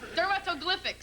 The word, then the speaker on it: dermatoglyphics: How's that pronounced, Daniel? Dermatoglyphics. You want to go ahead with that one? Okay. Dermatoglyphics.